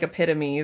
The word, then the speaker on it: epitome: There's another one that's like epitome that people mispronounce all the time. Contextually, I had read it and understood that it was the same word, but I thought epitome was like a p a t o m i or y.